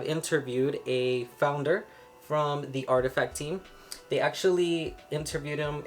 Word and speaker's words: RTFKT: so for example it says here artifact studios pronounced artifact is an ambitious project at the forefront of